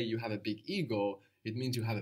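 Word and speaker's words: εγώ: in Greek is so we have a new sound here it's like a soft G which hangs around in the throat good perfect does it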